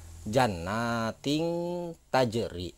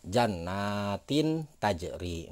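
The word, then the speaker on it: جَنَّاتٍ تَجْرِي: Jadi jannatin tajri, seperti itu. Tidak jannatin tajri. Nah, tidak seperti itu.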